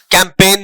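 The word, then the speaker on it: campaign: ठीक है, जी साइलेंट है, असाइन में ये जी साइलेंट है, कैंपेन में जी साइलेंट है।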